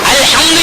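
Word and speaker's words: الحمد: அல்ஹம்து என்றால் புகழ் அனைத்தும். ஹே வர வேண்டும் உச்சரிப்பிலே. இவர் ஹேயை விட்டுவிட்டு ஹே புகுந்துகின்றார், அல்ஹம்துலில்லாஹ் என்று ஓதுகின்றார்.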